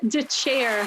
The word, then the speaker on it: Dethier: along on twitter dylan de chair thank you for being here thanks for having me nice pronunciation of my last name no nobody we were